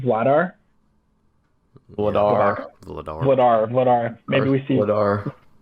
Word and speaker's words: Vladar: Vladar.